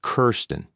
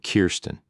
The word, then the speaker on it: Kirsten: Most people pronounce it Kirsten instead of Kirsten."